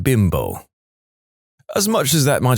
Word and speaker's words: Bimbo: off in America because we don't pronounce bimbo like the Mexican manufacturer does they pronounce it bimbo not bimbo as much as that